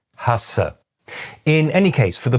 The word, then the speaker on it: hasse: In fact, there is one pair where, for most people, there is almost no difference at all in tenseness. This is the difference between Hase and Hasse.